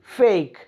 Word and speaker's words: fake: ऐसे ही FAKE, फेक, वी आर not pronouncing it like फेकी, हम इसको क्या बोल रहे, फेक।